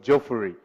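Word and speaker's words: Juffureh: Eh so if you have time also check out a village called Joffrey. Is it called Joffrey? Is that how you pronounce it?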